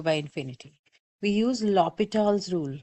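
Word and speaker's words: L'Hôpital: So this is a French name. Some people call L hospital's rule. Some people also end up talking about lo hospitals rule. There's no s in there. So I just pronounce it Lital's rule.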